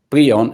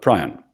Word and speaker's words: prion: a neurological publication 2018, he said it should be pronounced like prion and not prion.